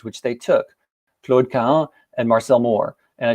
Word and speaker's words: Claude Cahun: names which they took, Claude Cahun and Marcel Moore. And I should say, by the way, in French, it should be pronounced Claude Cahun, but a lot of